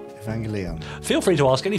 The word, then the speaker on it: Evangelion: another can of worms first a g in Japanese Japanese is always a hard girl never a soft jug okay okay second e is always pronounced e not e and I is always e never I third the accent is probably best on the third syllable I.E Evangelion right Evangelion feel free